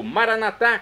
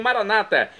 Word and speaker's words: Maranatá: E agora eu clamo do aramaico, Maranatá, como dizemos nós católicos, ou Maranata, como dizem nossos irmãos separados, os evangélicos ou protestantes. Não importa a pronúncia, o significado é o mesmo.